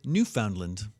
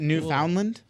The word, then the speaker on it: Newfoundland: just like Josh from the small island of Newfoundland in Canada. Is it Newfoundland? No. Newfoundland?